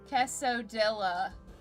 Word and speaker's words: quesadilla: No, I don't want to pronounce the L. No, you can't make me. Quesadilla.